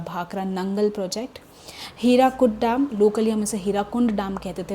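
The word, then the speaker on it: Hirakud: Actually में बहुत पहले लोकली ओरिजिनली इसका नाम हीराकुंड प्रोजेक्ट है। लेकिन इंग्लिश में ऑफिशियली स्पेलिंग्स में बनाने के लिए इसका नाम हो गया है हीराकुड प्रोजेक्ट।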